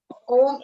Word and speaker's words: Om: So Om में 3 शब्द है, 3 शब्दों का समावेश है, अ, ओ and म. तो जब हम अ ओ को थोड़ा सा कम समय के लिए उच्चारण करेंगे और म का उच्चारण हमें लंबा करना है.